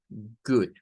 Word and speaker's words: good: Esta palabra la vamos a pronunciar como good. Voy a ampliar un poco. La pronunciación va a ser good.